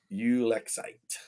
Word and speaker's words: ulexite: Ulexite. I guess that's pretty close to the same thing. I just break it into three syllables.